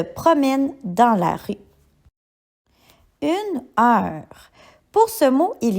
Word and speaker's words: heure: Pour ce mot, la lettre muette se trouve à la fin et c'est le S. Nous pourrions dire la phrase la souris se promène dans la rue. Une heure.